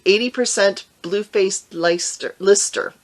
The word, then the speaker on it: Leicester: percent blue faced leicester lister i always say lyster because it has an e in it down here we would pronounce it leicester but but you all have told me it's lister so it's blue face